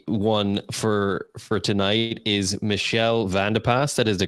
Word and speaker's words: Michelle Vandepas: and the lucky one for for tonight is Michelle vanderpas that is the correct pronunciation from from our conversation previous and she's